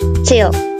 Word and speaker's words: till: Wah, and sesuai dengan katanya ya, in standard pronunciation we call this word until, but in Scottish we call this till.